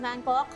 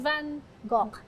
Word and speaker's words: Van Gogh: You said Van Gogh with a hard GH. Yes, because he's Dutch.